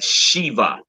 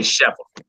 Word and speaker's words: sheva: under any consonant, understand that that's a Shiva, or some say Sheva, but a Shiva vowel. All right. The Shiva is sometimes silent and sometimes pronounced with a short slurred sound like the E in stupid, stupefy. You feel me? Makes it like it almost make like an eh.